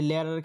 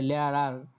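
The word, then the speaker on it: Lehrer: হচ্ছে কি এই যে মাঝখানে যে আরটা থাকে এটা মাঝে মধ্যে ওদের ডয়েসদের স্কিপ করে, মানে এদের উচ্চারণটা আর সরাসরি করে না, আর একটু গলা থেকে এই উচ্চারণটা করে আর কি।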